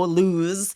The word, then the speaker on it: lose: Yes, and you notice it has that Z sound on the S. So when Yeah. it's just one O, lose is with the Z sound, even though they're both spelled with an S.